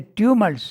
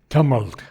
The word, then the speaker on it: tumult: Chooses its home mid the tumults. You pronounce the word tumult. Okay. I thought it was pronounced tumult. I think that's more American. I think British is more tumult.